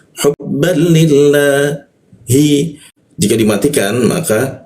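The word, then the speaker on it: حبا لله: Jadi cara membacanya hubbal li seperti itu, ya. Hubban lillah. Nah, li bertemu lafaz Allah ya. Maka lam bertasdidnya ini dibaca ke arah ad ya. Hubban lillahi.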